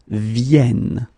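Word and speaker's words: viennent: e and that's the reason why you should pronounce it venen okay so so just one more time to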